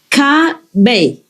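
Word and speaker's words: Caba: So it says C, A, and B, A. That is pronounced Ka, Bay. The A in Vietnamese is more or less like A and R combined, like in car, you know?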